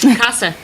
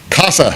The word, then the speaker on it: CASA: Casa not Quay correct Casa Casa like the uh like a house in Spanish we are going to